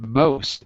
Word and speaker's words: most: um by the way the pronunciation of most again is oh not ma but no most most of the time